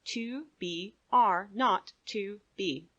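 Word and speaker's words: 2BR02B: were supposed to call the zero in the telephone number he pronounced not the number was 2 b r not to B it was the telephone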